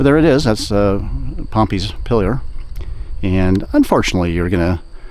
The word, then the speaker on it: Pompeys Pillar: pronounce it uh improper we always say Pompei like uh Roman town in Italy that was destroyed by vuia but there it is that's the pompy's pillar and unfortunately you're going